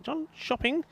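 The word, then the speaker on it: Jönköping: John cing coming back or shopping as they call it never mind how it's spelled it's what they say to me so yeah John shopping sounds a bit like gone shopping doesn't it but gotberg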